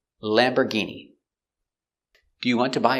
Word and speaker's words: Lamborghini: Lamborghini. We see it's not or, it's Lamborgh. And the G makes a hard G sound.